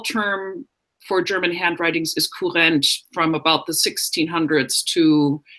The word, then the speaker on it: Kurrent: But can you pronounce that German word? Yeah, the term is Kurrent. Kurrent.